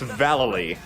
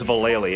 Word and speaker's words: Vallely: It's Vallely. Everyone says Vallely, including us, but we're wrong. In Thug, it's Vallely.